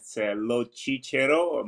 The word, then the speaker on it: Locicero: say your last name so it's a Italian name lochicero but in English is a little Cesaro area which uh means